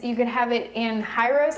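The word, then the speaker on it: gyros: could have it in hyros I think that's how you pronounce it it's g y r oos you could actually dip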